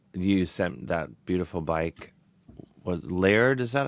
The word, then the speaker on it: Laird: What Laird? Is that how you say it? Yeah, um Mike Laird.